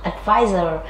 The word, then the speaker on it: advisor: hai là s và đều đọc là advisor trọng âm rơi vào tiết số 02 ngoài ra chúng